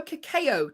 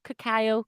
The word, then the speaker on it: cacao: we go how do i say this although kakao trees is that how you say it okay oh cacao cacao yeah the cocoa trees kakeo yeah although